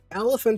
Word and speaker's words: elephant: But then, two of these vowels, they have the same sound even though they are different. So, the second e is a schwa and the a is also a schwa.